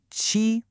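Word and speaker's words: 七: It's pronounced chi. And hey, there's that high flat tone again, just like we had with our number one, e chi. It's just a clean, simple sound.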